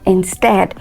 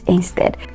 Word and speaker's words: instead: word like instead okay that word is correctly pronounced instead not instead so these are some of